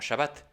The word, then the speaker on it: Shabbat: Tav, que conocemos como Shabbat, en hebreo moderno por su pronunciación española, Shabbat, pero cuya pronunciación en yiddish europea del este de esta raíz hebrea es Shabbos.